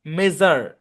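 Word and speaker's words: measure: হচ্ছে নরমালি এরকমই হয় কিন্তু যদি মাল্টিসিলেভিক ওয়ার্ডের শেষে এস ইউ আর ই থাকে তাহলে সেটা যার উচ্চারণ হয়ে যায় যেমন মেজার ক্লোজার প্লেজার হ্যাঁ এরকম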